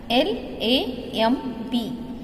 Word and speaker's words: lamb: L-A-M-B, B is silent. Lamb.